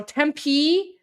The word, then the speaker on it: Tempe: Tempee is is it pronounced Tempe? Okay. So, Tempee and Tampa.